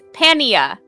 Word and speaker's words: pannier: And the British English pronunciation is pania.